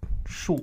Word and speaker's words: 树: So shu means tree.